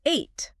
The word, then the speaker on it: ate: This one is tricky because the spelling looks like it should rhyme with beat or seat, but the past tense is ate. Eight, like the number eight. Exactly like the number eight. It's a homophone.